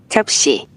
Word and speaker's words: 접시: Chopsi, piring. Chopsi, piring. Chopsi, piring. Chopsi. Kita masuk pelafalan dari orang Korea langsung. 접시, 접시, 접시, 접시, 접시, 접시, 접시.